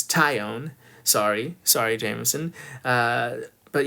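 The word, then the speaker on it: Taillon: and I'm also seeing I'm working on my pronunciation it's tyion sorry sorry Jameson uh but yeah definitely trying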